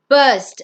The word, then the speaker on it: burst: It's not burst, it's burst.